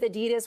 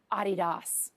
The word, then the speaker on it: adidas: the real question is do we just go with adidas which is the name that i grew up with or the more properly pronounced european version adidas oh oh what i'm